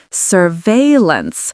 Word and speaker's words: surveillance: And remember, pronunciation, surveillance, stress the second syllable.